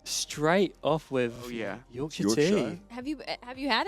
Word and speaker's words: Yorkshire: you to the states what would it be York Char yes finally you said it right straight off with Yorkshire have you have you had it now Yorkshire